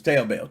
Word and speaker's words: Taobao: I don't know how you pronounce that. Is it Taobao? Taobao? I don't know. It's Taobao.